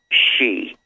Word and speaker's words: Xi: Xi, Xi, that's Xi is pronounced, Xi is pronounced Xi.